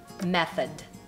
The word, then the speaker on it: method: tell our viewers the the english pronunciation of mesotox is method method you want to pronounce method method so but a native